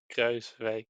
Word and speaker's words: Kruijswijk: Kruiswijk. Okay, fair enough. Yeah, actually the J in the Kruis part is redundant.